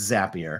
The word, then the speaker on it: Zapier: handy well and and it's pronounced as it's a zap you're creating zaps so it's it's zappier okay well yeah you're